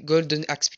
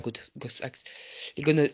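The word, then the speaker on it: Golden Axe: gohost readider gohs AX donc les Golden AX pas gos AX Godon AX ou Godon x comme on prononce ça dépend comment on prononce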